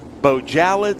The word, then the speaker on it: Bojalad: me yesterday and said it's bojalad like salad okay bojalad we've been